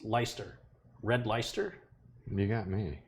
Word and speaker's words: Leicester: It looks like it's spelled Leicester, but I believe it's pronounced Leicester.